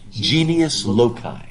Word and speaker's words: genius loci: It's the genius loci. Never heard it? Genius, just like it's spelled in English, and L-O-C-I.